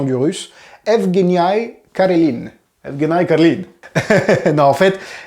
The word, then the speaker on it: Evgeniy Karelin: Et c'est le cas de, attention, roulement de tambour pour la prononciation du russe, Evgeny Karelin.